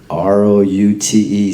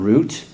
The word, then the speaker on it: route: ROUTE spells what? Route. Route? It's not root. It's the same word, different pronunciation.